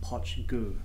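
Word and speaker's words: Poit Dhubh: whatever it is but apparently the pronunciation is hot chiku okay and now before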